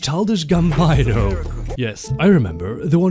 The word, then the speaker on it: Childish Gambino: Remember that childish albino we kidnapped? It's pronounced childish gambino.